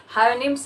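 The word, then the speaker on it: Houyhnhnms: Pronunciation होता है इसमें, सबकी गलती होती है, मेरी भी होती है। हायोनिम्स इसका नाम होता है।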